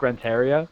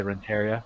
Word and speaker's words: Renteria: chicago white sox fired rick renteria or renteria i don't know i say renteria i think i was reading it phonetically and i forgot that i have some hispanic roots to me roll those r's man come on now